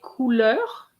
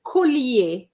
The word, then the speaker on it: collier: Des couleurs? What's that? Necklaces? Sorry, I didn't get that. What's the word in English? Necklaces. Oh, necklaces. Okay. Necklaces is collier. I heard couleur. Okay, it's the pronunciation.